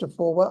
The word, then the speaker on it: AFORWA: So AFORWA, which is our acronym, AF figure 4 WR, pronounced AFORWA. I like that because it has the idea of forward in it, and we like to think we're moving forward, not backwards.